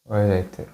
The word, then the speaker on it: Wurtzite: on to hexagonal site - How do we pronounce it? - Wurtzite - Wurtzite.